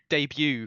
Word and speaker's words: debut: You know, um, debut, for example, most Australians will say debu.